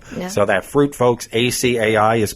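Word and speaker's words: açaí: It's called acai. People call it acai or acai. I've heard acai a lot. It's acai.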